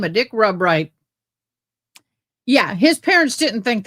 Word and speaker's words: Rubright: Way it was spelled was Rubright, but pronounced not Rubright, but Rubright. He went by Dick Rubright. Really, it was Rubright.